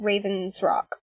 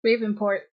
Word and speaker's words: Raven's Rock: Because we have to make a trip to Raven's Rock. Oh. Ravenport. No, it's Raven's Rock. No, it's Raven's Rock. It's Raven's Rock. We've been saying it wrong.